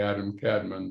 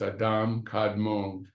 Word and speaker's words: Adam Kadmon: superal Man known as Adam kadmon or some people say Adam Cadman but the correct pronunciation is Adam kadmon the spot are the